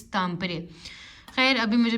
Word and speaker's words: Tampere: मैं प्रोनाउंसिएशन मैं क्योंकि तामपरे को भी टैम्पर यूनिवर्सिटी कह रहे थे, तो भाई ने मुझे कहा जी इट्स तामपरे।